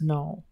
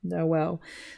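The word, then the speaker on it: Noël: like an umla but it's used to let the reader know that each vowel should be pronounced separately for example trying to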